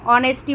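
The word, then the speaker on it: honesty: हैं नेस्टी ठीक है ऑनेस्टी बोलते हैं एच हमेशा साइलेंट हो जाता है ठीक है अगर आजादी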